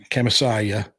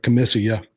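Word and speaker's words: Khamisiyah: Um and the the demolition pit that was in uh Kamasayia or Kamissia, depending on how you want to pronounce it.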